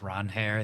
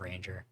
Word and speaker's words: Ranger: But in other baseball news, Ranger Suarez apparently said that his name has been pronounced Ron Hare the entire time, and he was like, "I don't care, but it is Ron Hare instead of Ranger," which just so much less cool.